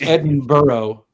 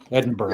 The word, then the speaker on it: Edinburgh: But like, you know, another one is Eden. It looks like Edinburg. It's Edinburgh or Edinburgh. Edinburgh. Everyone knows that. I I always want to say Edinburg because that's what I see when I read it. Yeah, that's Yeah, for some reason I want to say like Edenberg. I don't know why. Doesn't it look more like Edinburg, not Edinburg? Well, it's B U R G H.